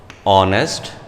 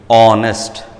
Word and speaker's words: honest: ಈಗ consonant sound silent ಇದ್ದಾಗ if an initial consonant is silent, as in, see here, or honest, then has to be used. Honest. Silent, H silent, ಇಲ್ಲಿ O sound ಬರುತ್ತೆ.